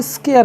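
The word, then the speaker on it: scare: हैं जैसे एस सी ए आर ई इसको स्केर पढ़ेंगे क्या पढ़ेंगे स्केर स्केयर का मतलब डरना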